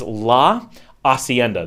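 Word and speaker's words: Hacienda: so the steakhous is LA aenda that has an H you don't pronounce an H at all in Nicaraguan Spanish any Spanish in theory um hes are completely so la aenda um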